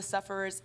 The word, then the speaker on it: Suffers: when we originally started we were called the sufferers and the sufferers is actually the correct way to say it but it's not the